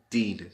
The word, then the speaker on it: Deen: Street or Deen. Deen is spelled D-E-E-N.